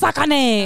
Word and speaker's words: Saucony: It's Sakani.